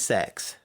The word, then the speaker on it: CeX: name in the world it's spelled CeX we call it kecks yes but apparently it is sex I've also heard people could just call it CeX yeah it's Computer Exchange